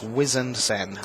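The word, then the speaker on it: Wizened Cenn: I'm pulling rank. It's Harbinger, and it's Wizened Sen.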